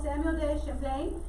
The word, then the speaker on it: Samuel de Champlain: it was founded by samuel day champlain so again i know pronunciation and spelling does not match right now so just be careful samuel de champlain that he's remembered as